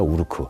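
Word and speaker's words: 우루크: 있는 루크 라는 곳입니다 우 루크 루크 라고 발음 하기도 하고요 우로 이렇게 발음 하기도 합니다 그 시리아의 거의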